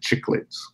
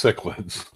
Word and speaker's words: cichlids: But the people who are just into it, if you see the word, mm-hmm. and you pronounce it chicklets. All right. It's not. It's cichlids. All right.